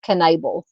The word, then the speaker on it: Knabel: Her last name is pronounced Knabel.